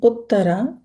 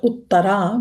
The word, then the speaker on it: Uttara: the daughter of King Uttara and begot four sons. Sorry, not this is not uttar but it's uttar. Okay, not a long a long a ut is the mother of parikhit maharaj.